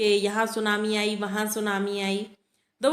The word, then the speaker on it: tsunami: तो सुनामी किससे बना हुआ है, सू का मतलब हार्बर, यहाँ पर टी साइलेंट है, तो सू का मतलब हार्बर और नामी का मतलब वेव।